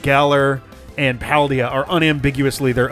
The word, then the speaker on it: Galar: Oh, because it rhymes with Valor.